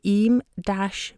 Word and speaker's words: Eyam: i am by the way even though it's pronounced e so check that out and you'll find out